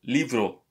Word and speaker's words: libro: So, libro. This is how you say this word. You pronounce it like a V, the B.